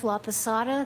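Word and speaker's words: Laposata: Elizabeth Laada. That's spelled L A P O S A T A.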